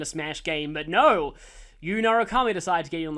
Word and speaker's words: Narukami: I like the way the announcers in the arena games say Narukami, though. Narukami. I think that's kind of how they say it.